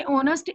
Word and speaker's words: honest: हालांकि ऑनेस्ट H से शुरू हो रहा है, H एक वोवल नहीं है, लेकिन हम H से पहले एन लगाते हैं क्योंकि वो ऑनेस्ट आवाज O की दे रहा है, H साइलेंट O की आवाज दे रहा है, वोवल की आवाज दे रहा है, साउंड वोवल दे रहा है.